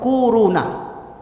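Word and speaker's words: كورونا: Corona. Corona. Bacanya tuh kuruna.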